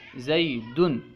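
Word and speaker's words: زیدٌ: کہا جاتا ہے۔ جیسے زیدن، یہاں پہ زیدن جو آخر میں دال میں جو ہے تنوین ہے۔ وضاحت کر رہے ہیں، زیدن کا تلفظ یوں ہے زیدن، یعنی آخر میں نون ساکن ہے اور اس کے آخر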